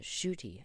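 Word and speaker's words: Ncuti Gatwa: super cool in it so shoy okay I've been pronouncing that wrong my whole life I'm like Niti gotwa nah fam shoy cool I like that I like that name shooty it's fancy um I was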